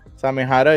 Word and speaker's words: Samehada: watch Naruto um this is how do you pronounce it samada samih yeah samehada it's a sword one of the swords from